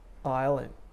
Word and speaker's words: island: l same thing third island island you don't say iceland it don't say the s in that case you don't say the